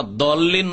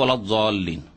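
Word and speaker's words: الضالين: ওলা দল্লিন নয় আর জল্লিনও নয়, তবে ওলা জল্লিন, মানে জয়ের কাছাকাছি।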